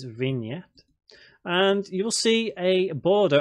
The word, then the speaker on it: vignette: Not pronounced vignette, it is vignette.